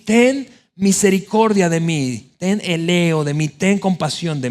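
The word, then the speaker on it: ἔλεος: Eso se pronuncia más o menos como eleo.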